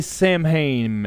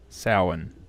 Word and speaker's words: Samhain: of that style yeah although we do say samhain in the west it is samhain mr hannah i think